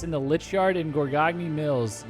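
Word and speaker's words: Gorgagne: Gorgagni. Gorgong Mills? Gorgong Mills. I think the second G is silent. Gorgain Mills?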